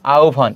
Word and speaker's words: আহ্বান: এই যে আকার আছে, এরপর যদি হয় ব ফলা থাকে তাহলে হয়ের স্থলে ও হবে, আর বয়ের স্থলে কি হবে? ভ। তাহলে এখানে কি হবে উচ্চারণটা? উচ্চারণটা হবে আহ্বান, এটি হবে।